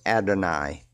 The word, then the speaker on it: Adonai: And then the lesser Lord would be Adon or Adonai. Is it spelled with an I or a Y?